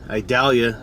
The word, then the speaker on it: Idalia: 30th and we've got hurricane idalia is how I believe they pronounce it I'm trying to do